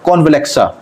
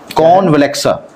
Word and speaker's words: CONVALEXA: इसका है कॉन्वलेक्सा। ठीक है, कॉन्वलेक्सा। ठीक है, कॉन्वलेक्सा स्पेलिंग मैं बताता हूँ।